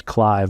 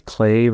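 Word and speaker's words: Cleve: this guy named uh I want to say his name's Clive but I think it's clave or cleave I think it's cleave Baxter and cleave Baxter was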